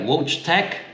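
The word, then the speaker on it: Wojtek: we got I think if you would pronounce it something like roach Tech w-o-j t e k I think is what it is and then we have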